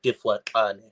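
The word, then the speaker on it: Difaqane: Or Zulu, I've heard it pronounced as Mifwakane or Difwakane. All right.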